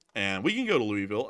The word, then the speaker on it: Louisville: I call it Lewisville. And when I say Louisville and Nashville, just to let y'all know. Yeah, that's not the way it's pronounced, but it just sounds better saying it that way when you say Lewisville and Nashville instead of Louisville and Nashville.